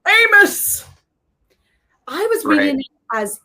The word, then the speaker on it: Amos: Amos! I was reading it as Emos. So I had my lines memorized on set, and I was like, Emos. No. Amos.